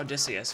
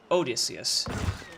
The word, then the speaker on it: Odysseus: It's not Odysseus, it's Odysseus. It's Odysseus.